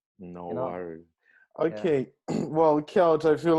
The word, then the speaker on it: Kjelt: just k lt uh so it's just how it's pronounced no worries okay well kelt i feel like we